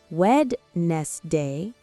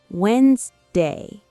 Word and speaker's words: Wednesday: We don't say Wednesday, we say Wednesday.